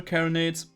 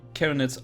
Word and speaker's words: carronade: The plasma carronades, carronade I think is the correct pronunciation here. They're kind of like your shotgun, if I understand this correctly.